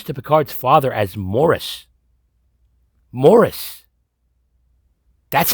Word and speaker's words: Maurice: and she refers to picard's father as morris morris that's how you pronounce this name it's not maurice and i don't say that there are like